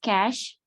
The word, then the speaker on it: cache: discuss about cache memory the pronunciation is cash oh forgot this thing